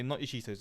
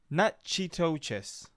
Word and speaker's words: Natchitoches: I'm gonna say not your Cheetos. It's Natchitoches. Not your Cheetos.